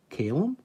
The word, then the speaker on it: Calum: not heard the name column and they don't have to pronounce it Calum is that your name no it's like calzone II um you going to